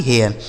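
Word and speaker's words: hare: तो एच ए आई आर इसे पढ़ा जाता है दोस्तों हेयर। एच ए आई आर हेयर और एच ए आई आर इसको इसको भी हेयर पढ़ेंगे। एच ए आर ई हेयर।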